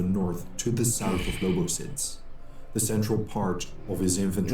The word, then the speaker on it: Lobositz: Near the village of Lobositz, in the valley of the river Lobositz, I did pronounce it right.